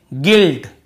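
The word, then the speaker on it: guilt: यू को नहीं पढ़ रहे हैं फिर देखिए गिल्ट य पर भी देखिए गिल्ट केवल जी आई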